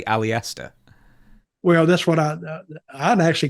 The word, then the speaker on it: Aleister: E in, but I like that you say Aleister. Well, that's what I'd actually called him that just and said, Aleister, come here. That's not that. How do you say his name again? Just Alistair.